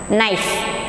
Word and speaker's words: knife: A-X-E, axe, knife. Here also, what is the spelling? K-N-I-F-E. But pronunciation, knife. K, first letter, silent letter, knife.